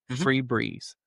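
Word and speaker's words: Febreze: Or well, Fu, but it's pronounced free. Freebreeze.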